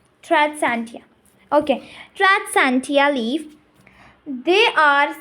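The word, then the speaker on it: Tradescantia: What's the pronunciation? Tradsantia.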